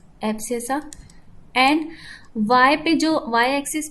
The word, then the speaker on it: abscissa: X axis पे उसको हम क्या बोलते हैं, एब्सेसा। इसकी स्पेलिंग मैं अच्छे से लिख देती हूँ, ABSCISSA, ये ध्यान में रखना।